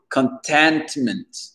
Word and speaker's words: contentment: Donc ici, pour parler de satisfaction en anglais, c'est contentment, d'accord? Le C-O-N devient ken, ken.